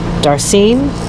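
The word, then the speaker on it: darcine: this is a uh darcene believe that's how you pronounce it d a r c i n e and it is a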